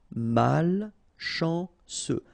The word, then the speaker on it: malchanceux: Final X not pronounced. C-E-U. Ce. Malchanceux.